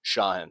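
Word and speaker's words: Shauhin: if they go for Shahan, am I saying his name right? I never know. We love you. I just don't know how to say it. Say Shahan. Okay. Shahin. So you go for Shahin.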